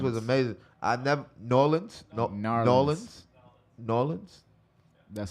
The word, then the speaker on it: New Orleans: Man, the food in New Orleans was amazing. New Orleans.